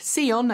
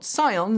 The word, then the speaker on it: Sion: its upcoming xeon ev yes apparently it is pronounced seon and not psion so sorry i've been getting that wrong for